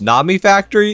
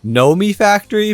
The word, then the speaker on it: Nomifactory: you guys told me that it's actually not pronounced Nami Factory it's pronounced Nomi Factory but come on that's not as fun and